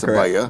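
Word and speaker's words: Sabiah: We correct that name. But it's spelled like Sabaya, you know, S-A-B-I-A-H. Correct, Sabaya.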